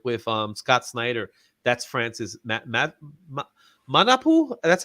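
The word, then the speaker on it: Manapul: That's Francis Manapu.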